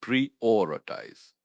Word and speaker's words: prioritize: P R I O R I T I Z E pronounced preoritize. This one has a bit more going on. Stress on the second syllable or.